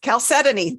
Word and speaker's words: chalcedony: as a form of I never can pronounce this right calc suddenly chalcedony that's it it's not spelled that way so I Stumble over